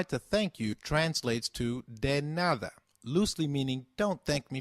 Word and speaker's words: de nada: or the reply to thank you translates to dead nada loosely meaning don't thank me for anything so can you try saying de nada it's called de nada very good let's now